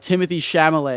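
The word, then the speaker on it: Timothée Chalamet: like Timothy shamal oh you got to have the accent on the E and it's double e at the end and the Timothy's like with the it's not normal Timothy it's like e e and Sham like it's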